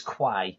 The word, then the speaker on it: Quay: He's Key Tolsite, or although I called him Key Tolsite, and he corrected me. It's not Key, it's Quay.